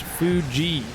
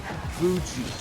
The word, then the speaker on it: Fuji: got some inside intel it's pronounced fuji fuji okay like fuji water so i apologize for